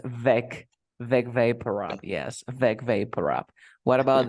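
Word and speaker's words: Vicks VapoRub: I always pronounce Big Vaporub, and it's Big Vaporub. Yes, it's Vec Vaporub.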